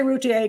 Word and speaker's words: Routier: pronounce that girl's name i say rutier because it sounds french but um i will